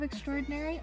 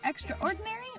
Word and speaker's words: extraordinary: find the original of Extraordinary on my outside account at confabulate link in the description box below if you wanna check out extraordinary can be pronounced extra ordinary or extraordinary done on purpose my